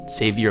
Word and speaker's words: Xavier: creative plan words which if you say Xavier how it's some pronounce it Savior Onassis it comes out something like save your own asses also in this episode